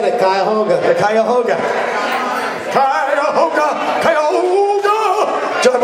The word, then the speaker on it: Cuyahoga: How do you pronounce it, John? He said it, Cuyahoga.